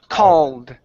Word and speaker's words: called: Remember, that's an ah sound.